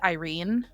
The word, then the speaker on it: Irene: got to see now I know it's Irene but urine is how I pronounced it cuz like why